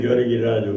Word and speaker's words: Radu: However, you say something different in Romanian. How do you say it? Radu. Yeah, there we go. Okay. That is how you say it in Romanian.